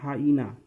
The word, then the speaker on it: hyena: एक और है जिसको हम लोग बोलते हैं HYENA, इसको हीना हीना बहुत लोग बोलते हैं, हीना हीना, बट ये हीना नहीं है, ये गलत है। इसको बोलते हैं हाइना।